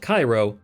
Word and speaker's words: Cairo: Ibis, although Mr. Ibis calls it Cairo, the traditional pronunciation.